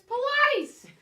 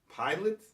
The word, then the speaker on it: Pilates: He goes, Marina, my God, it's Pilates.